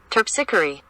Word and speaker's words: Terpsichore: Terpsichore. Terpsichore. Terpsichore. Terpsichore. Okay. Let's try that line again, saying terpsichore. Hear me say devoid of trickery, daughter, laughter, and terpsichore.